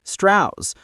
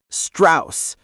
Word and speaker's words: Strauss: He insisted that his surname be pronounced Strauss, a Virginia affectation that sounded less foreign, more genteel. But Oppenheimer, the scholar of languages, always made a point of pronouncing it the German way, Strauss.